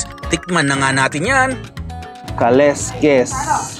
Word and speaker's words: kaleskes: na nga natin yan kaleskes o bigkas sila dito parang kaluskus Eh ano kaya daw